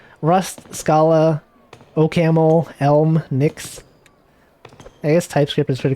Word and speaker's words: Nix: It's spelled N-I-X, Nix.